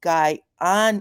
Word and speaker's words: Guyana: for joining me and she said it's pronounced guy on uh Guyana thank you so much